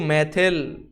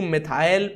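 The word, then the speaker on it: methyl: तो आप सबसे पहले इनकी संख्या लगाओ, 2 मैथिल, 2 मैथिल या 2 मिथाइल, अंग्रेजी वाले उच्चारण करेंगे 2 मिथाइल, मिथाइल इसका सही उच्चारण है, 2 मिथाइल।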